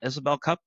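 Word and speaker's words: Isobel Cup: You won the Isabel Cup.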